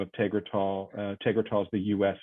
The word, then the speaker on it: Tegretol: And so she's taking a different drug, Tegretol, or I don't know how to pronounce it, Tegretol. Tegretol.